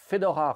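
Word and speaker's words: Fédora: lead role of princess fedorha romazoff fedora being the french pronunciation of fedora a russian variation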